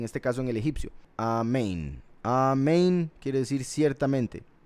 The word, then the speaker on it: amén: Los Ashkenazi pronuncian Omein, por si algo, Omein. porque cambian algunas vocales de A a O. Y ese es el caso con la palabra amén. Ellos dicen omen.